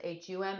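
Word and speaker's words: So Ham: yeah another one is so hum s-o and then it's h-a-m but it's pronounced hum and that's an ancient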